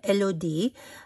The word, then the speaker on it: Elodie: It kind of like melody, but with an IE at the end, but without the M in the front as well.